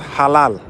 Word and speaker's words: halal: So, the word I'm pronouncing actually I say halal, but it's pronounced halal.